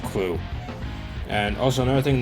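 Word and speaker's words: Klutt: that I'm most familiar with, and yes, it's pronounced Clue.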